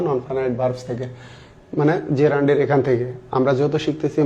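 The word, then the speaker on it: gerund: তাহলে আমাদের আলোচনার শুরুতে যেটা আছে সেটা হচ্ছে জেরান্ড। অনেকে জিরান্ড বলে, কিন্তু প্রোনাউন্সিয়েশন জিরান্ড হবে না, হবে হচ্ছে জেরান্ড।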